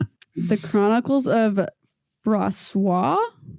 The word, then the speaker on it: Froissart: Um Froissart? Yeah, so it it would be Froissart.